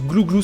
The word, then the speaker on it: Glouglous: Pour info, ça se prononce glouglou sans le S.